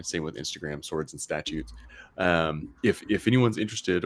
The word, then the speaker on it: Statutes: swords and statutes um that is statutes not statues no one can ever spell it um but uh